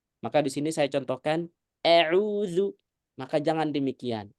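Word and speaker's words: أعوذ: Maka di sini saya contohkan a'udzu. Maka jangan demikian. Tapi bacanya gimana? Fathah biasa.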